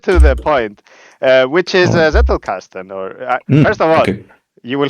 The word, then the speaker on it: Zettelkasten: also about the topic that I shall now pronounce correctly. It is in ancient German. No, it's a very, very modern German. It's Zettelkasten, and the clue is to, if the target